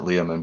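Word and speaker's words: Leomund: But Lakofka has a soft place in my heart too, because he's the guy that created Ledman and all the Ledman spells, right? Yeah, I pronounce it Leoman, but yeah.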